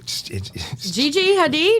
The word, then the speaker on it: Gigi Hadid: you say it Mike Gigi Gigi Hadid it's Gigi Hadid yeah her her mom